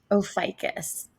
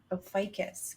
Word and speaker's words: Ophiuchus: Ophius, how do you say it? Ophiuchus. Ophiuchus. Okay. Yeah, or it's called Ophiuchus. Ophiuchus, Ophiuchus. I kind of go between the two. Or Ophiuchus, even. There's several ways to say it.